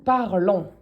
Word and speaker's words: parlons: It's because this is pronounced on, not ons. Don't be saying ons. We speak in French. Nous parlons.